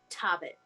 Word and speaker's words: Tobbit: And it is run by a halfling named Tobbit. Tobbit. Spelled like Hobbit, but with a T.